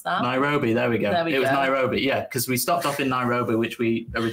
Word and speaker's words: Nairobi: How do you pronounce that? Nairobi, there we go.